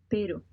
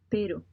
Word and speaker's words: pero: Be sure to make your R sound more like a D. R sound more like a D. Alright, let's do it. pero, pero, pero, I know it's